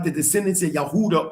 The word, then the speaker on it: Yehuda: Like the descendants of Yehuda or Huda, which is which is the true pronunciation of Judah.